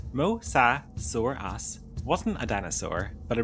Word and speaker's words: mosasaurus: The mosasaurus, pronounced mosauras, wasn't a dinosaur, but a marine reptile that lived during the late Cretaceous period around 70 to 66 million years ago.